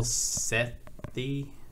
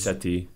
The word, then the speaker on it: Sethi: And I might get this name wrong, but Neil Sethi? I think it's Seti. Seti?